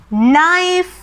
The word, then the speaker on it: knife: ඒ කිව්වේ K අකුරයි N අකුරයි එකට යෙදෙනකොට K අකුර අපි ශබ්ද නගන්නේ නැහැ. pronounce කරන්නේ නැහැ. අපි උදාහරණ ටිකක් බලමු. no, knife, knee, knock.